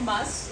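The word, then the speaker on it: musth: males go through and this is called must it's spelled m-u-s-t-h during this period testosterone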